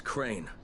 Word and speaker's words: Crane: no my name is crane crane rhymes with train and pray and say and clean and rain